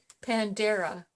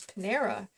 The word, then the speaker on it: Panera: But anyway, he wants to always pronounce it Pandera bread. And it always gets to me, because every time he says that, I say, no, it's Panera bread.